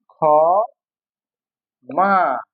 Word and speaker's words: ক্ষমা: শুরুতে থাকলে হবে খ এর মত।